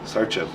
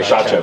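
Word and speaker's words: Šarčev: Sarchev. Shatchev. Okay. Shatchev.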